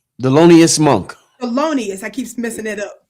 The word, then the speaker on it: Thelonious: Help me pronounce his name right. Thelonious Monk. Thelonious, I keep messing it up.